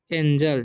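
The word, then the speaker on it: angel: तो फाउंड पढ़ेंगे एन एंजल, ठीक है, एंजल, ठीक है। जी रहता है तो उसका जी का उच्चारण ज हो जाता है।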